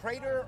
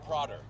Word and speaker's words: Prader: this is 16 is it Prader or prer thank you that was right the first time getting assistance on the